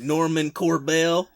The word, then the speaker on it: Normand Corbeil: I guess Normand Corbeil would be the pronunciation. Well, yeah. Please, thank you. I'm 5 hours from Quebec, which is like basically entirely French. I'm like Normand Corbeil.